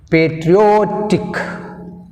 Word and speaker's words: patriotic: Patriotic, patriotic, o tick, tick 1, o 2. That's why we'll take o second syllable from the end. Ending నుంచి మనకు రెండో syllable ఏంది? o వస్తుంది. Patriotic, o one syllable.